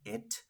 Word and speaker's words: it: ella se pronuncia She eso se pronuncia it recordemos que la i de ese it no se pronuncia como nuestra I latina cierto alargada sino es un sonido mucho más corto más adelante en otros